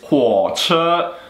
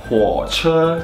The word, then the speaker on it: 火车: All right, the next word is 火车.